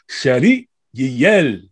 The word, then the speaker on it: Chéri Yielle: But like I love how you say it. You have to say it that way now. You got to, man, because that's how you pronounce every syllable.